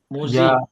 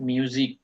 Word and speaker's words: Musik: মুজিক নট মিউজিক, মুজিক।